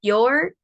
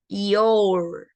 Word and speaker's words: your: you How are you cuando le agregamos una r y lo hacemos your pronunciamos solamente la o y la r your How was your day o también podemos pronunciar i o u yor pero en este caso